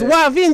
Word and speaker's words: Wavin: It's Wavin. Just put the W and just say Wavin.